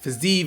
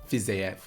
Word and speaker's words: Fiziev: i'm saying that right physique is how it's always pronounced on the thing but i believe it's fizef shout out to max